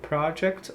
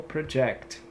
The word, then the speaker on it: project: Como você já pode ver, tem duas pronúncias. A primeira que a gente pode observar aqui é de substantivo, então você tem esse daqui, e você também tem o verbo, tá? Quando você fala project no sentido de, de substantivo, estou